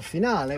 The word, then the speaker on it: finale: ladies and gentlemen for a grand finale or finale which is the right Italian pronunciation so I'll put that